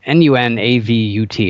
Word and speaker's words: Nunavut: Nunavut, or it's spelled N-U-N-A-V-U-T. It's very, if you look it up, people argue about how it's pronounced, but Nunavut is how I pronounce it.